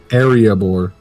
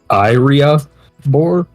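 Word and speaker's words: Iriaebor: time the city of arabor arabor it's like it's a boring area I don't I know I'm pronouncing it like the Dwarven City and Lord of the Rings but it's literally spelled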